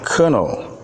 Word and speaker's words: colonel: word is pronounced attorney the second word is pronounced colonel then the next word is where followed by